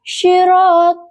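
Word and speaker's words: صِرَاطَ: Kata sirat huruf sy. Makhrojnya di tengah lidah dan langit-langit mulut dengan getaran shad. Huruf ro makhrajnya itu di atas lidah dan langit-langit mulut. Kesalahan yang sering terjadi seperti pengucapan khad yang tidak ada getaran sehingga terdengar seperti sirat. Contoh baca yang benar. Syirat dengan shad yang memiliki getaran jelas.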